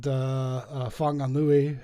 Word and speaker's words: Whanganui: And Whanganui, and they're all spelled with W's and H's for some reason instead of an F.